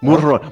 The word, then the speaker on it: Mulharan: It's Mulharan. More R, kitty cat. You purr.